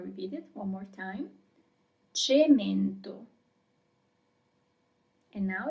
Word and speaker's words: cemento: So, our first word is cemento. I'm gonna repeat it one more time. Cemento.